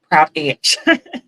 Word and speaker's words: Prabh: Oh, is it Prab? Oh, have I been saying your name wrong? I am so sorry. Prab. Prabh.